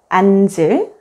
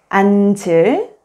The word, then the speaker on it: 앉을: When the 겹받침, 니은, 지읒 is followed by a vowel, only the first consonant, 니은, is pronounced and the second consonant, 지읒 becomes the initial consonant in the next syllable. For example, 얹어, 앉을, 앉으세요.